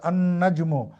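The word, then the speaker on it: النجم: আন নাজমু। এখানে লামটি কিন্তু অনুচ্চারিত থেকে গেছে।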